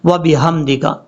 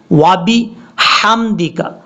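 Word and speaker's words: وبحمدك: حمدکا پڑھتے ہیں تب یہ غلطی ہو جاتی ہے، کیونکہ ہا یہاں پر بریک ہے۔ یہ جو آپ کو با کے بعد ہا نظر آ رہی ہے، یہ ہا بریک ہے، بھاری ساؤنڈ کے ساتھ نہیں پڑھی جائے گی، اس کا گلے کے ساتھ تعلق ہے۔ کیسے؟ وابی حمدکا، حمدکا، اس طریقے سے آپ نے پڑھنا ہے۔ اب اس کے بعد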